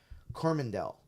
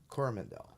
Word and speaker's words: Coromandel: creature um so yeah New Zealand yeah in corvandel coromandel okay so there you go yeah so no